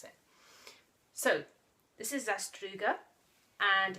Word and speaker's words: Zastruga: Well, what I do is put on an accent like you're, you know, a Bond villain, a Russian Bond villain, and say Zastruga, okay?